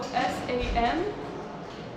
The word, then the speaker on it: Samaganova: So her name is spelled the way that it sounds. So Samaganova. So Samaganova. It's phonetically exactly how it sounds.